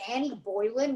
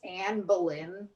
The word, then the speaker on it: Anne Boleyn: not long before she turned in henry's head yeah did you say annie boylan when her name is anne boleyn same thing oh my